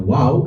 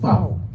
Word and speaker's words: wau: Ada yang bacanya wau, ada yang bacanya fav. Karena FAV itu mendapat pengaruh dari bahasa Aramaik. Dalam pemahaman orang Ibrani sebelumnya wau itu dibacanya W sama seperti huruf Arab.